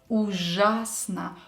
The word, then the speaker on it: ужасно: Ужасно. When pronouncing Ж letter, make sure your tongue is up.